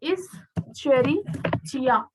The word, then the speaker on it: Escherichia: इसको एक प्रोनाउंस करने का तरीका है Escherichia coli and it has how many base pairs?